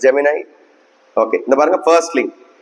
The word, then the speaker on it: Gemini: இதை வந்து ஜெமினின்னு சொல்லுவாங்க நிறைய பேர். ஜெமினை, it should be pronounced as Gemini.